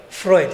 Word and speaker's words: Freud: is Sigmund Freud, I don't know how you pronounce that, can somebody help me out? What's it? Freud, Sigmund Freud, yeah.